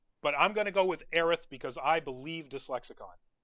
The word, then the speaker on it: Aerith: no matter what but I'm gonna go with Aerith because I believe dyslexic on they would know